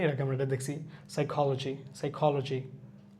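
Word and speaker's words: psychology: সাম, এখানে এলটাও সাইলেন্ট থাকবে, পিটাও সাইলেন্ট থাকবে, এর আগে আমরা এটা দেখছি। সাইকোলজি।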